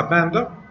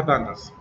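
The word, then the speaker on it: pandas: بالمناسبة الباندا هاي الباكج ممكن تحكي لها باندا وممكن تحكي لها بانداز، تنتين صح.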